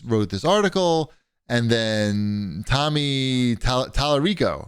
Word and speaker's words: Tommy Tallarico: And then Tommy Tallarico, right?